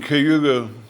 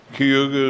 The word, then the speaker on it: Cayuga: that ended in A is pronounced IE to the railroaders. So Neoga is Neogi. Cayuga is Cayuga. I have no idea why. Steve has no idea why, but that's the way it was.